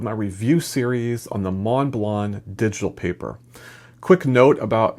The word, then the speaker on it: Montblanc: in Western Europe, is Montblanc. It's French, and that's why it's not pronounced the way it looks phonetically, at least from an English speaker's point of view.